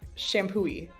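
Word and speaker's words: Champoeg: not easy ones so the first one is shampooy okay it's really fun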